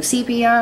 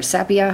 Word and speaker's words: sepia: just going in with some sepia or sepia however you'd like to say it in my town we call it sepia I've heard it said pronounced both ways um and once again